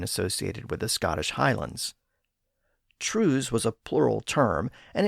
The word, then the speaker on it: trews: That early date would explain how the pronunciation changed over time, because the word trews was almost certainly altered by the Great Vowel Shift. By the late 1500s, the word was commonly pronounced as trows, on its way to becoming trows.